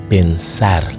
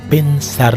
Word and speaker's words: pensar: Vous devez mettre accent sur dernier syllabe là. Donc dans cas ça, c'est deux syllabes li gen, pen c'est yon, sar c'est yon, il termine par une consonne et pas aucun tilde.